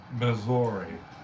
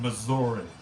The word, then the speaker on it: Missouri: it pittsburgh buddy no people do call up misery though say lumo i'm from saint louis missouri missouri there you go i